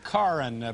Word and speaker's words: Karin: Love, Karin, pronounced Karin, like car in the garage, Moore, from Oakland, California.